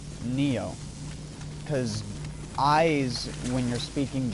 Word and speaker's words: Nioh: both is the game pronounced nio or n it's pronounced Neo cuz eyes when you're speaking Japanese when you're